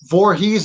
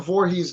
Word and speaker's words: Vorhies: a different guest for you I got Jonathan Voorhees am I pronounced your last name right yes sir Jonathan Voorhees guys he's a guy a lot of you